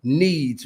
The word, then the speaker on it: Kneads: because first of all, needs, right? When you hear it, and of course me, it sounds like I'm saying need, yep. Need, but strategically because she's a strategist, it's it's spelled Kneads, like need.